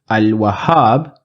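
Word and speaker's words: الوهاب: assar and Al wahab in Al wahab I am pronouncing the lamb I am saying Al so I will look for Wow in and I do see the wow here so wow is in the list of alphabets in therefore in I am going to pronounce the lamb in assat I do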